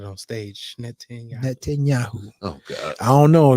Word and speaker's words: Netanyahu: It's 4 syllables, man. Net Netanyahu. 10 Yahoo. Yeah, think net 10 and then think of the drink Yahoo. Yeah. Net 10 Yahoo.